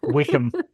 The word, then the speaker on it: Wycombe: Anyway, um, and there was this city called Wycombe Rye, but that's not the real, that's not how you say it. Wickham.